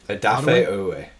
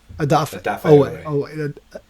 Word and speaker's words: Odafe Oweh: Odafe Oweh. Odafe Oweh.